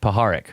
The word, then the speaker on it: Puharich: Andrei Puharich, okay.